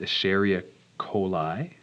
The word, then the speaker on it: Escherichia coli: It's pronounced Escherichia coli, which, because nobody ever wants to pronounce it, we just call it E.